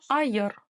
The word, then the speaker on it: айыр: Ай, айер. Ай, айер. Ай, айер. Не айер, а айер.